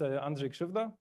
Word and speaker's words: Andrzej Krzywda: My name is Andre Shuva. Uh, my name is super hard to pronounce.